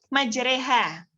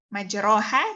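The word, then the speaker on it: مجراها: Majreha. Majroha dibaca majreha.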